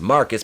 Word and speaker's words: Marquise: Yes, the same joy buzzer that the Joker used to give Marquise, pronounced Marcus because he's fucking stupid, aka Black Joker, and all she wanted was Pamela back because she's her soulmate.